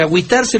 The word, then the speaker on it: agüitarse: que Cómo se escribe Pues lógicamente con diéresis en la u para que nos diga agitarse yo es el término de agüitarse lo he escuchado más